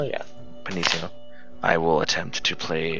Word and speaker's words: pianissimo: I believe it's pronounced Pinamissimo, the double P, piano. Yes. Pianissimo, yeah. Pianissimo.